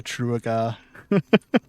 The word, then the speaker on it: Trooga: Am I supposed to pronounce it like Trooga? Yeah, like that except with the uh before the U and the E, so true guy.